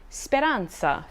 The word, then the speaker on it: speranza: beginning as in zero a single z or zed can also be pronounced as a combination of t plus s for example speranza for hope or vacanza